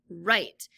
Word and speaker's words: write: It says pull, push, print, plow, run, race, read, write. Now, read and write, they have the same R sound, but of course the word write is spelled W-R-I-T-E in this instance.